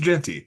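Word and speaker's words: Jeanty: Ashton Jey or jeti I I struggled how to say his last name it's actually super simple I uh I actually went and looked at a pronunciation guide because as we know I struggle with those uh it's just Genty so uh very easy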